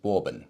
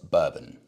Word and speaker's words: bourbon: My pronunciation of the whiskey, I'm embarrassed to say this, I was pronouncing it bourbon, which is the same as a delicious chocolate bar. It's, of course, bourbon.